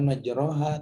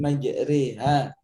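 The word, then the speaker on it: مجريها: Tinggal kalau nanti dia mendapat penjelasan dari yang lain, Ibu yang benar bukan majroha tapi majriha.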